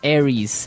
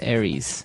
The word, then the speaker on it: Aries: And so one of the famous fire signs is Aries, right? Aries. It's like the god of war in the Greek mythology. That's right. And u So it's pronounced Aries. Aries.